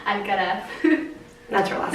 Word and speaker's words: Alcaraz: Okay, she goes by Letty, but her name is Leticia, and you gotta pronounce her last name. Alcaraz.